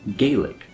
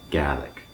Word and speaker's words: Gaelic: country outside of Scotland, you might see this word and pronounce it Gaelic. And that's kind of confusing since the native language in Ireland can also sometimes be referred to as Gaelic. So in this video, I'm going to refer to Scottish Gaelic using the native pronunciation, which is Gaelic.